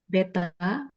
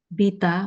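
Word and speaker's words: βήτα: Beta, Ba. Bita, maaf. Bita.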